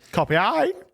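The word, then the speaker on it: Copy.ai: a mhm and copy ey yeah that's it that's how I pronounce it and in there they've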